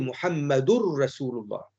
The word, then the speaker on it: Muhammadur Rasulullah: Entre Muhammadun et Muhammadun Rasulullah ou Muhammadur Rasulullah, cette liaison-là, c'est une bonne prononciation en arabe de dire Muhammadur Rasulullah avec ce qu'on appelle l'idgham, la fusion.